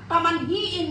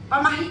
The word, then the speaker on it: pamahiin: bibitbit nila ang mga pamanhiin nila pamanhiin ba Tama ba yung pagkasabi ko sa Tagalog pamanhiin pamanhiin pamahiin Pam pamahiin unbelief Okay siguro well pronounce yun na kaya na lang pamahiin okay that's the Uh